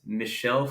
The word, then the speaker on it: Michel: And I thought I think it's Michel Foucault. I thought he was Michael Foucault.